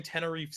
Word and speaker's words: Tenerife: They sang Tenerife together. Tenerife. What? It's called Tenerife. Isn't that what I said? No, you pronounce the F. You just stop pronouncing letters eventually in that word.